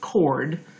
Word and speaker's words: chord: i know it looks like chord but it's pronounced chord and that's where we have two points that